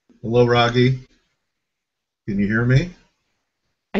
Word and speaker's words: Raghee: your bio, Raghee, and I believe Oh, I'm pronouncing your first name correctly.